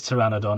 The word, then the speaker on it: pteranodon: I get the feeling we're going to need to rename these pteranodon, aren't we? So, um, right, there we go. We have Terry with a silent P.